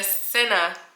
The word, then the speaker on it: Seine: cruise on the, I don't know how to pronounce it, the Seine, wait. Okay, so I looked it up. It is the Seine River.